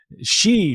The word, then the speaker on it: Xi: that hard you know it's she just like he she but uh so yeah